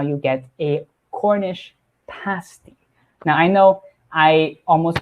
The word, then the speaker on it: Cornish pasty: And that is how you get a Cornish pasty. Now, I know I almost pronounce it as pastry. Just be careful, it's not a Cornish pastry, it's a Cornish pasty.